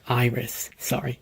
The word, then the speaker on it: Eris: The term is actually pronounced iris, when the main characters